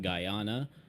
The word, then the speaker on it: Guyana: complete nerd in bookworm it is pronounced guyana uh i triple checked i even checked from a video with the guyanese speaker talking about the question what did